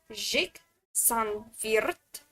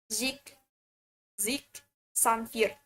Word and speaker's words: Zhick Xanviert: So my name is Zhick Xanviert. How to pronounce it is that it's either Zhick Xanviert in Russian way on how to say it, or just Zhick Xanviert in Indonesian accent.